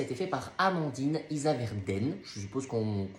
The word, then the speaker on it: Issaverdens: Alors, consultation intérieure, ça a été fait par Amandine Isaverden, je suppose qu'on prononce comme ça, même s'il y a un S à la fin, et qui est sophrologue.